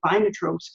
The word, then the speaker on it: Vinetrope: gee I don't know if I'm pronouncing inotropes correctly and I have heard from the author of the book who is a delightful woman around my age maybe I can have her round we'll see but she told me yes I am pronouncing the title correctly it's a part of